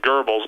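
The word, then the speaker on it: Goebbels: this that gurbles or some people pronounce like Devils but I pronounce it gurbles OD with the umlauts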